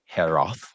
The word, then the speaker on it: Ekeroth: And um, you know, Mark mentioned Daniel Herof, I think is how he told me to pronounce it at the very beginning of the interview, but uh, he is, of course, the author.